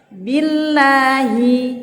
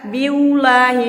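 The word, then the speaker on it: بالله: Billahi. Kenapa enggak biulahi? Salah. Karena dia di sana harokatnya ba-nya ini kasro.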